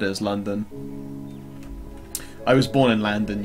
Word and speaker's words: London: Down here in the south, we say London as London, but London is London in London. London has no O's in it. It's spelt L-A-N-D-U-N.